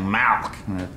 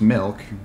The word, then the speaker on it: milk: just want some milk now you're saying it wrong you're saying malk like it's a disease how do you say it i'm saying it the way everyone ought to say it milk m-i-l-k right like two percent